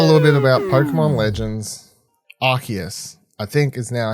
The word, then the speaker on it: Arceus: Let's talk a little bit about Pokemon Legends Arceus. I think is now how we pronounce it. Arceus, I think is how I was incorrectly pronouncing it for some time there.